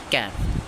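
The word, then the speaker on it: ك: জিহ্বার গোড়া থেকে একটু আগে বাড়াইয়া সেটা হলো তালুর সঙ্গে লাগাইতে হবে, তেমন কি ক্যাপ ক্যাপ ক্যাপ।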